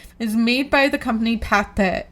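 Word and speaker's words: Pathé: is made by the company Pate Pate. Pate P A T H E with the accent over the E.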